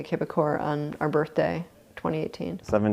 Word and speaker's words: Québecor: the paper get printed I guess the English would pronounce the quebecore media in French so we started printing a kibakor on our birthday 2018.